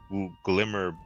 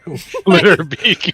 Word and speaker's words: Glitterbeak: No offense to you, Glimmerbeak. Yeah, is that what you call them? We just said his name wrong. Glitterbeak. We've been saying it wrong the whole time.